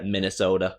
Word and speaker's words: Minnesota: how to pronounce because I was pronouncing it sota when it's actually soda. Soda. So it's like a miniature fridge. Take minus the fridge and add a soda in there. Minnesota.